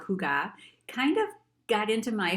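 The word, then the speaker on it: hygge: and this one is called huga and sometimes i see it pronounced hugo but it's a danish term spelled h-y-g-g-e and it is a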